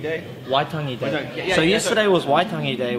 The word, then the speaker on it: Waitangi: What is exactly, I'm not going to say it wrong, Waitangi Day? Waitangi Day.